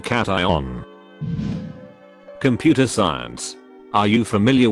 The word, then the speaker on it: cation: unionize for me or ask them to pronounce keishon the average person would say cashew n instead of cation computer science are you